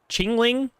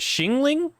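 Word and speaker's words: Xiangling: shingling cuz I I thought X was a CH well first I tried to say zinging like or like x-ray like that kind of like English pronunciation which I know is like super wrong but then I thought it was a CH sound so then I said Chingling but is it shingling like sha instead of CHA cuz that's what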